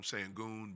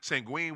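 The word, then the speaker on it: Şengün: with I don't know we call him sangon but sangui I guess is way you're supposed to no no no sangui is the nickname uh sangen I guess that's the way you supposed to pronounce it sangen with uh Houston OKC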